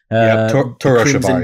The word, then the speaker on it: Torashiva: Am I pronouncing that correctly, Shawn? Torashiva, yeah. Doom.